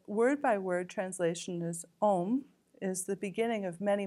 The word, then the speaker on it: om: byby word translation is om is the beginning of many mantras and that is symbolizes the body speech and mind of the Buddha all in Combined it's actually three syllables it's the OM the a